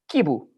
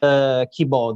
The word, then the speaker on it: Kibo: No, actually it's Kibo, the pronunciation. Kibo. Yes, Okay. because it's a Japanese word, but we're gonna figure Really?